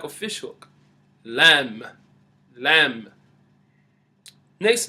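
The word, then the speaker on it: ل: letter Lam is shaped like a fish hook lamb lamb next letter would be letter meme meme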